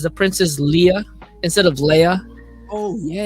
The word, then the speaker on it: Leia: name guys I mean if you say Leah just you know because you want to it's fine but you know how your name if your name gets mispronounced you're kind of like irritated about it so if you're irritated just say Leia stop saying that's fine